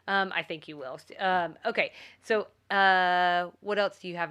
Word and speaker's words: Esso: And the only other thing I had written down is that the phonetic pronunciation of Standard Oil, S-O. Right. And then it's spelled E-S-S-O, which caught I was like, okay.